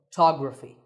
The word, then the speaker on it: photography: first syllable becomes and the stress goes to the second syllable photography so Photography in the